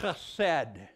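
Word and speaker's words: חסד: It's the Old Testament word chesed. And when you pronounce that in Hebrew, you got to get that guttural sound in the back of your tongue there.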